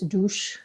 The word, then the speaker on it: dos: They're soft S's, so you don't hear s, you hear sh for everything. Dos is douche.